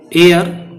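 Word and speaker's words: heir: बी में भर्ती किया एयर इसको हेयर मत बोल देना है जिसमें साइलेंट है यह हेयर केयर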